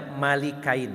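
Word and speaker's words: ملكين: Abbas mengatakan bahwa kalimat malah kain beliau menggunakan pakai kasrah pada ya pada huruf lam jadi bacanya Malik kain Hai Ibnu Abbas berpendapat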